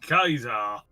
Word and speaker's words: Caesar: No, Origins is basically in that period and Caesar in it. You're saying it wrong. It's Kaiser.